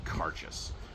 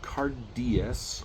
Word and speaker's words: Cairdeas: every year and they're going to call it cess and not cardas or cardas or whatever it's called It's pronounced CES and uh it's Gaelic for friendship